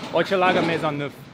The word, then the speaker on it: Hochelaga-Maisonneuve: And how's my pronunciation? Hochelaga-Maisonneuve.